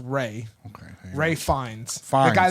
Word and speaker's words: Ralph: movies all the fantastic four movies that's right ralph venus that's ray his his name is pronounced ray okay ray finds the guy that played voldemort